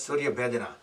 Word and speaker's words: Surya Bhedana: Okay, next let's do Surya Bhedana Pranayam. Make sure that I'm saying it correctly. Yes, Surya Bhedana.